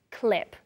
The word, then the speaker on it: clip: It's similar in Spanish, but the pronunciation, paper clip, really short, clip.